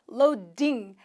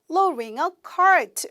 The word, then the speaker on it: loading: 그래서 영국 분들은 loading, D 사운드가 그대로 들려요. loading a cart. 근데 미국 발음은 lowering a cart. 리을처럼 약간 돌려준다라는 거죠.